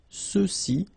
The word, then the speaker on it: ceux-ci: masculine plural, ceux-ci, okay, remember final X is not pronounced, so you get the sound ce, ceux-ci, and then ceux-là.